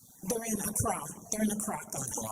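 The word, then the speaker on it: Accra: They're located in Donna in Ara. They're in Ara. They're in Ara. I never pronounce it right.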